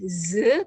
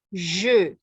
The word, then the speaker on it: je: Ya, pelafalnya, perhatikan pelafalannya ya, karena di bahasa Indonesia tidak ada pelafalan je. Ya, jadi lebih tebal, bukan ze tapi je.